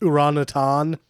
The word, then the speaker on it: orangutan: It's pronounced orangutan.